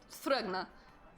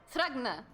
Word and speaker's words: Thrugna: Thrugna. Do you... How do you spell that? Sure, yes. It's a T. You have that? You ready for the next? Then it is an H. Then an R-U-G-N-A. Thrugna.